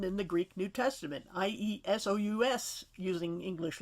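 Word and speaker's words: Ἰησοῦς: And you'll notice in the Greek text, the name for Joshua is Iesus, or Jesus, more like the y sound, exactly the same as it's spelled and probably pronounced in the New Testament for Jesus. That's how it's written in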